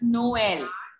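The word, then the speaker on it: Noël: Beta, the role of the tremor, the role of tremor is that both the vowels present in the word need to be given their independent sounds. Both of them are pronounced. Like for example, here it is pronounced as Noel.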